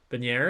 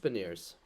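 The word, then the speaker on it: Beniers: them like Matty bener benier I hate saying that last name I always say it wrong benier is that right is it not B is it not bers is it bers I think it's just been years okay well I just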